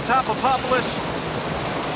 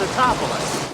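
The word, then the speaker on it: Tatopoulos: And I guess Roland Emmerich must have thought his name was hard to pronounce since they turned it into a running gag here. Dr. Nico Topopopoulos. It's Totopoulos.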